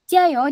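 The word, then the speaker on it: 加油: Jadi bukan C yang medok itu. C-nya agak tipis. Ci C ci c gitu.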